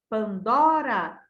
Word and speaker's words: Pandora: Pandora Dora a palavra a sílaba dó da palavra Pandora ela é mais forte ao ser pronunciada Pandora o dó é a sílaba tônica Deuses deu é uma